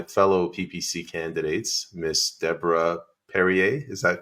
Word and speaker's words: Perrier: PPC candidates Miss Deborah perier is that correct it is yeah just like the water that's good that's what